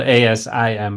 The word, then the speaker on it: Asim: And what's the background of the name Asim? Pakistani name. Parents came in the 60s, early 70s. So typical immigrant story. Spelled A-S-I-M, by the way.